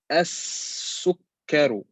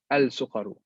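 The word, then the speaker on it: السكر: Again here, as-sukkaru, not al-sukaru, al-sukkaru.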